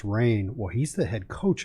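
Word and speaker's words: Rahne: I know one of them was Ricky, I believe the last name is pronounced Rain.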